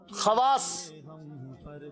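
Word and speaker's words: خواص: और एक लफ्ज है खवास, तो खवास का वाव जो है वो साइलेंट नहीं होगा, क्योंकि वो अरबी का लफ्ज है, ये उर्दू का कायदा है। तो अरबी में ये कायदा नहीं है, अरबी में वाव पढ़ा जाता है।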